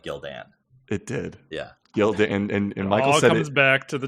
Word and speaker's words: Gildan: Gildan it did yeah gild and and comes back to the Tidy whes he you he pronounced it correctly I told him that he was supposed to be Gildan and not Gilden I remember that exctly